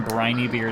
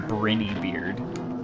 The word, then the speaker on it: Briny Beard: However, the guy pronounces Captain Briny Beard as Captain Brinny Beard, which simply does not make any Yeah, sense.